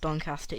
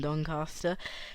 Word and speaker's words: Doncaster: nature reserve in doncaster i know it's pronounced doncaster even if you say the word last or past and said the last and past it's commonly known as doncaster rather than doncaster um this is rather